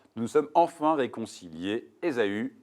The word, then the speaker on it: Ésaü: Ézo. Ézo. Bien joué. C'est pas la bonne prononciation, c'est bon. C'est Ésaü, précisément.